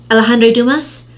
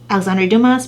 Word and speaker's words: Alexandre Dumas: And that book is it pronounced Alejandro Dumas, The Count of Monte Cristo.